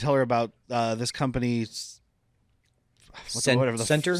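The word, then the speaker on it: Sentre: He's trying to tell her about this company's Center Center. Thank you. with an And, And like- it's spelled like century. and when their logo is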